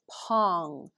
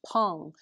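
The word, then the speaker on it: peng: step out ward off this is pong p-e-n-g pong now i don't speak chinese i'm going to try to pronounce it as best i can pong is a very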